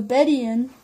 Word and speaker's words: Bedouin: you figure six point five above all the bed Ian that's how that word is pronounced if I was saying it wrong before